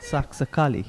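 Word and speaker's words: Saxacalli: Saxakali.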